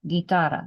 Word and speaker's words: guitarra: Guitarra. The U is silent because it's just trying to make it hard.